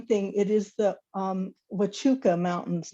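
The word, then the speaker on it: Huachuca: will say one thing it is the um wachuka mountains not the watchaka it's a misspelling and a mispronunciation and um we call them saguaros here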